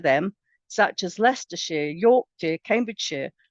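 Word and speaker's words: Cambridgeshire: such as leerer York Cambridge Shear are pronounced the sheer not Shire the Shire belongs in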